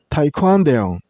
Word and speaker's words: taekwondo: This board name has three syllables. Thai and use stress on the second syllable. I mean sound. See the full pronunciation would be taekwondo.